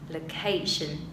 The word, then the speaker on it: location: Đó, vậy từ này chúng ta không đọc là location đâu ạ, mà chúng ta sẽ đọc là gì? Location. Location. Chữ L này các bạn đọc càng nhẹ, và cho thêm một dấu huyền vào.